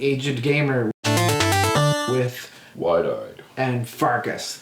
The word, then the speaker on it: Pfarcus: Welcome to the Aged Gamer with Wide-eyed and Pfarcus. The P is silent.